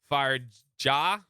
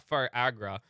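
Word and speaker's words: Firaja: do you say it fire jaw fire fire ja right not fire not fire Agra um but it would be fire J I think that's what it is all the jaw spells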